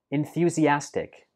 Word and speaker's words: enthusiastic: We pronounce this like enthusiastic. Enthusiastic. Enthusiastic. So it has five syllables. And note that the stress for this word is on the fourth syllable.